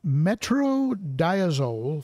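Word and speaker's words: metronidazole: would say get a bag of metro it's pronounced metro diazole flakes from ken's fish and give them to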